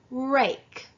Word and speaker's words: rake: So when you add E to the end of this word, it changes the short A sound from a sound to a long A sound. So now the word is pronounced R-A-K, rake. The word is rake.